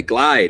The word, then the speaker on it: Glid: We say it's glide, but it's all good. Got it. Is it spelled G L I or is it GL? GL with a long I is a macron. It's a macron.